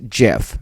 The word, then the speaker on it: GIF: just to let everybody know that it's actually pronounced jiff so if you want to correct me i'm